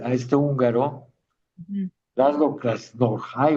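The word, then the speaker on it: Krasznahorkai: Laszlo Krasnorhai, o como se pronuncia, eh, Krasnohorkai.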